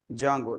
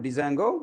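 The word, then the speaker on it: Django: and its framework Jango how to pronounce it as Jango not Dango you have to pronounce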